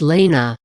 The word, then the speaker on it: Lena: to be more adventurous than say William it's pronounced Lena we chose it because it's a name we both like it's also similar to Mia's because it's distinct not shortened from another name Lena which is of Greek origin means sunshine meanwhile